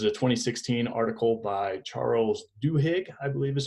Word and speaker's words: Duhigg: This is a 2016 article by Charles Duhigg, I believe is how you say his name.